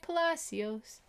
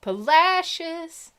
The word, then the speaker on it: Palacios: folks they don't know it looks like palacios sounds like polacious just listen the next